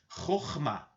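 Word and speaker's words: Chokhmah: vira é a esfera Roma Essa é a pronúncia com esse essa primeira letra arranhada na garganta de forma forte Roma ela se posiciona na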